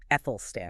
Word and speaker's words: Æthelstan: But first, that name Ethel Stan can look a bit intimidating, right? Quick pronunciation note for everyone. It's like the A in cat. So, Ethan. Ethel Stan.